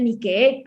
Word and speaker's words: Nike: adaptado al inglés, pero la palabra es de origen griego y la palabra se pronuncia Nike, además como con una doble E, con una alargación de...